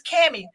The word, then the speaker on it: Kami: And so instead of correcting them, I just go, oh, it's Cammy, like Tammy, but with a K.